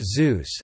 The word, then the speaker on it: Xeus: Xeus, pronounced Zeus, is a vertical landing, vertical takeoff lunar lander demonstrator.